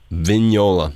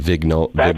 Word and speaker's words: Vignola: Vignola. All right, I'll make sure I pronounce that right. Vignola. My apologies. I was saying Vignolia.